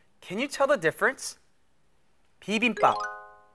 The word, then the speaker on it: 비빔밥: 비빔밥. 비빔밥. In words like 비빔밥, the piup sound at the end is what we call a consonant ending.